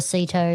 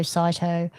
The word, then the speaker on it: CITO: So either host an event or go to a cito cyto. I'll just say both ways.